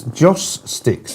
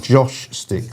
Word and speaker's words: joss sticks: I'm saying, somebody said to me, it's Joss Sticks, not Josh Sticks. Joss, J-O-S-S. I think it was just the way I pronounced it, because when you have Joss followed by Sticks, it sounds a bit like Josh Sticks.